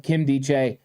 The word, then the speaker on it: Nkemdiche: When you're trying to learn players' names, I did believe it was Nkemdiche, But when I was watching and listening to something to get the pronunciation to make sure I did it right, they were calling him Nkemdiche. So I think that a lot of times you're trying to figure it out, but Nkemdiche, perfect.